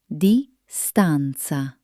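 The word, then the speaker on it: distanza: English words ending in N, C, E. In Italian, these almost always transform into a beautiful flowing na. Take the word distance. In Italian, it becomes distanc. Hear that musical ending. It's not just a word. It's a melody.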